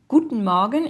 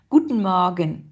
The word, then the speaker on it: Guten Morgen: Guten Morgen. Et donc, en fait, les deux E, enfin, on les prononce pas. Guten Morgen.